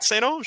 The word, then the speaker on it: St. Ange: Do I still say that wrong? No, you say it right, St. Ange. Okay, yeah, good. You say it's very French.